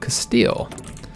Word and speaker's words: Castile: and their defensive force it reminds me of Castile or Castilla however you want to pronounce it Spanish or English so we do get